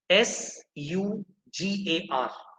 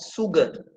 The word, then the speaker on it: sugar: it is for sure s u g a r it is not sugar it is sugar should be spoken say just like when